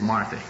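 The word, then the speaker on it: Marthe: And by the way, my wife's name is Marthy. M-A-R-T-H-E. You know, I say that and people look at me and say, that poor nut doesn't even know how to pronounce his wife's name.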